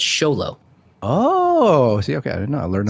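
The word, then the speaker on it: Xolo: miguel from cobra kai his name is spelled x-o-l-o and it's show low oh see okay i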